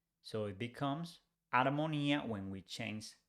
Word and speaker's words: armonía: We don't pronounce H in Spanish. So whereas in English we say harmony, in Spanish we say armonía without pronouncing H.